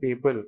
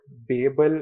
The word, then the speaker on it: Babel: Turns out that Babel is the more traditional way, and Babel is a more, American pronunciation of the word.